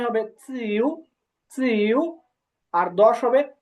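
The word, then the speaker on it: 九: 9 হবে চিউ, চিউ। আর 10 হবে শি। এটা হবে রাইজিং টোনে। হ্যাঁ, শি, শি। তো আমি আরেকবার বলতেছি, আপনার মনোযোগ দিয়ে শুনুন। লিউ, সি, পা, চিউ, শি।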